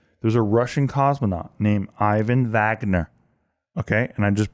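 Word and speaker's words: Ivan Vagner: station okay okay there's a russian cosmonaut named ivan wagner okay and i just pronounced that correctly in russian got it he's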